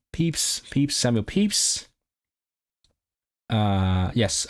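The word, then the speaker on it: Pepys: Samuel Peeps. Is that what do I need to know? This guy is he important. It is pronounced peeps.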